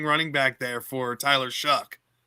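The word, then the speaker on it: Shough: Bree all as your running back pronounced sounds like Shaw to me, but it's Shuck.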